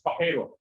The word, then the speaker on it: Pajero: So Pajero is actually pronounced as Pajero.